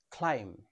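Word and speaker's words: climb: এই ওয়ার্ডটির সঠিক উচ্চারণ হবে ক্লাইম।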